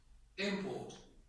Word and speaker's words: import: That nouns will have the main stress coming? I think first. Okay? First. On the first syllable, that's right. And they sound like what? Import.